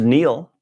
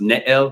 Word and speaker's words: Nael: Neil, not Nail. And he actually changed the spelling of his name so everybody could understand. It's an old Arabic name and it's pronounced Nail, but everybody just calls